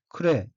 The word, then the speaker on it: 暮れ: 초록색 줄친 부분을 보면 첫째 줄 첫 번째 어휘의 한자는 한국어로 저물모자이며 일본어로는 크레 라고 읽고 저물 때, 저녁 때 계절의 마지막이란 뜻입니다.